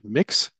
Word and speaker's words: Mx: of Mr or Miz it's pronounced mix um and we have